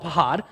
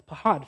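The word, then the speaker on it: פחד: Technically, it has a much more like guttural kind of like phlegmy pronunciation, but I don't want to look dumb, so I'm just going to call it pahad.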